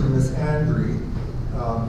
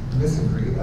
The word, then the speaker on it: misandry: I'll just add that about pronunciation, I refer to misandry. It's probably less correct than misandry. I do that because I want to emphasize the andry.